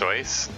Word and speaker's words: Seuss: Seuss, but somebody said that it's actually pronounced Seuss, because it's like I think it's a German name, and in German, like EU is pronounced with an oi sound.